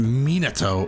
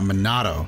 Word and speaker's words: Minato: And it's pronounced Minato and not Minato.